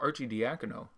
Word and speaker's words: Arcidiacono: So Arcidiacono, which I say as often as I can now that I've learned how to pronounce it.